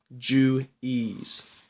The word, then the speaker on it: Juwes: this is felt knowing known jointly as the jews je u w s pronounced Jew ease and I'm gonna end